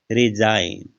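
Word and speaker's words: resign: रिजाइन, तो एन से पहले जो जी आया है उसका उच्चारण नहीं हुआ, एस आई का उच्चारण हुआ है रिजाइन, जी साइलेंट है।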